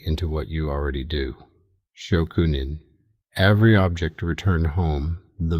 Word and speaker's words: Shokunin: This comes from Shokunin, pronounced Shokunin, the craftsman's relationship with their tools.